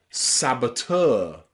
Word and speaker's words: saboteur: Words like saboteur, saboteur. And you can see that T-E-U-R, ter, is pronounced ter with that sound. So EU here is pronounced saboteur.